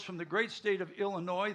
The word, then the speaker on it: Illinois: He hails from the great state of Illinois. The S is silent. It's not Illinois.